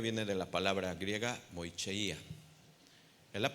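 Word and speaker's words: μοιχεία: Y mira, la palabra adulterio viene de la palabra griega moicheia. Es la pronunciación, recuerda.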